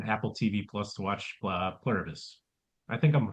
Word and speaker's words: Pluribus: So right now it's like we did in the rotation Apple TV Plus to watch Pluribus. I think I'm pronouncing that wrong, but Pluribus, yeah, you got it.